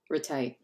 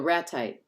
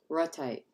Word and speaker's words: ratite: just pronounced like ratties retai no ratite raw type because it stresses on the first syllable so God that I